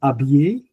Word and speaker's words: habiller: Next comes habiller, déshabiller. Like we said before, so habiller is H silent, H muet. En français, H muet.